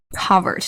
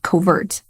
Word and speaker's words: covert: racism overt hostility covered notice the stress shifts to the first syllable covert not covert women are constantly being